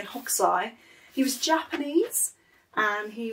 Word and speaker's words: Hokusai: nice to have it so hog sigh it depends how you want to pronounce it but i'm going to say hoksai he was japanese and